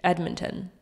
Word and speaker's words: Edmonton: I think I say the D, Edmonton.